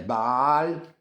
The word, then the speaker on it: Bâle: Mais en fait, quand on le prononce, ça fait Bâle, hein, comme le dieu.